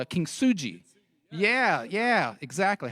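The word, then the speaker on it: kintsugi: put it into the vase and it's called kin suji yeah yeah exactly how' you pronounce it kin sui yeah there you go so this is a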